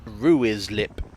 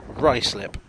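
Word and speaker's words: Ruislip: ryslip just looks wrong like it should be ruiz lip but it's pronounced ricelip this station is not south walk but southwark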